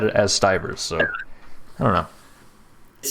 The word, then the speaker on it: Stivers: look at him and i go it's actually pronounced stivers it's a hard eye to hear like your